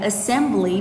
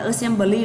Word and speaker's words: assembly: Assembly, từ này là assembly vì trọng âm của nó thứ hai nên một số bạn kia đọc là assembly là không có đúng nha.